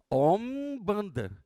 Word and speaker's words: Umbanda: Os nossos irmãos umbandistas, né, é Om-banda, a Umbanda.